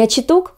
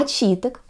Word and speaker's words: очиток: И таким образом, именно из комментариев я узнала, что правильно произносить не дерен, а дерен, не очиток, а очиток.